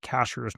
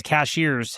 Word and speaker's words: Cashiers: So it's Yeah, spelled like cashiers. Uh so if anybody says cashiers, it's uh yeah, that that'd be incorrect.